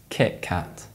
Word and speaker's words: Kit Kat: Other examples include the British coffee brand Kenco, which is actually pronounced Kenco, and the British chocolate bar Kit Kat, which is actually pronounced Kit Kat.